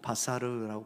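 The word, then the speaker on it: בשר: 여러분, 오늘 본문에서 그들은 육체이며 할 때 육체라는 단어를 히브리어로 바사르라고 발음합니다.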